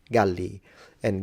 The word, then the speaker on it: Gallia: we call them Gauls, Galli, and Gallia with a long A when it comes to phonemic vowel length, when it comes to the area.